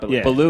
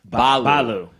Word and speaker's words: Baloo: Baloo is actually pronounced Balu. Balu.